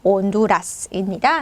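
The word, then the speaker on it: Honduras: 쉽게 익히실 수가 있어요 자 이치가 원래 스페인으로 발음이 안 되기 때문에 나라이름 온두라스입니다 이제 중미에 있는 작은 나라 이죠 그래서 체는 발음 안 난다는 건 주의해 주시면 되겠습니다 자 그리고 영어하고 발음이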